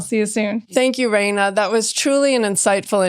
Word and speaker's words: Raina: I am Raina Virginia on everything. It's spelled like rain with an A on the end, and then Virginia like the state.